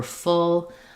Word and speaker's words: full: The main difference here is we have the tense oo sound for fool and the lax sound for full. I would say the other